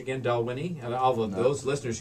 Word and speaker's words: Dalwhinnie: Now, the proper pronunciation again, Dalwhinnie, and all of those listeners who drink Scotch.